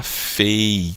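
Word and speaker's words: פ: Sem o dagueche, a letra pei vai ter o som fricativo, né? Ela vai se tornar com o som de F, como na palavra festa, tá? E ela muda também o nome, ela de pei, ela muda para fei, tá? Que é um nome, é um som mais fricativo, ok?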